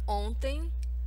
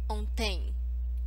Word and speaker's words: ontem: Pronunciation tip. The word ontem, the stronger syllable, the stressed syllable, is the first one. It's on. So it should not sound as ontem. Okay? It's ontem.